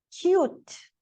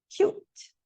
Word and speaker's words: cute: Cut, cute. Cut, cute.